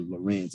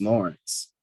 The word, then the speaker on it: Lawrence: the georgia genealogical society no they don't pronounce it uh lorenz it's lawrence so that's what the